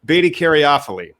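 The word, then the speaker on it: beta-caryophyllene: See, these are just so much fun to try to remember how to pronounce terpenes. Beta caryophyllene.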